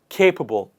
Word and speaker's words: capable: something that is capable please repeat after me with the stress on the first part capable whereas somebody who